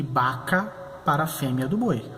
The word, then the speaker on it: vaca: Vocês podem perceber, B larga, B corta é o mesmo som, B. Então você vai pronunciar bueye para boi e vaca para a fêmea do boi, a vaca.